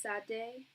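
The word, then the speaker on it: Sade: It's pronounced sad day.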